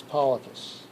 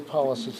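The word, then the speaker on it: pollicis: i c i s which I pronounce polus so but you can pronounce you can say polies if you want to and then here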